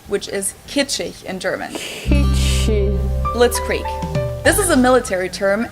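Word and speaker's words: Blitzkrieg: We pronounce it blitzkrie in German and it literally translates to lightning war because blitz is lightning and creek is war.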